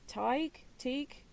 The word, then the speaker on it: Teague: And there was, and I don't know how you pronounce his first name, Teague. It is Teague, okay.